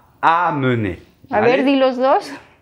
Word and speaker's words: amener: Segunda palabra es amener, es casi igual, a nivel de pronunciación también, Sí, ¿eh? pero no es la nasal en, pero amener.